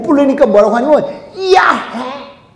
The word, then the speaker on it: 야훼: 못 부르니까 뭐라고 하냐면 야훼. 그러니까 야훼는 내가 히읗 발음을 여러분들에게 들려주기 위해서 야훼 했지, 실제로는 이야 이렇게밖에 안 들리는 거야. 야, 그리고 속에다가 끝으로 회 해보세요.